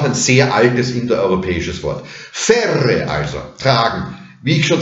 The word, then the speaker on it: ferre: Ferrere, ferrere wird zu ferre mit Doppel-R. Das ist einfach schlampig ausgesprochen.